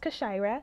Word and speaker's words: Kashira: If you're ever wondering how it's pronounced Kashira.